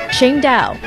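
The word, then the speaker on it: Tsingtao: While it's spelled differently, it's pronounced the same way the city is pronounced, Qingdao.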